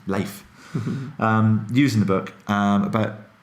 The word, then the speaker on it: Leif: It's a really, really good example that Jocko and Leif, Leif, it's spelled leaf, but it's Leif, use in the book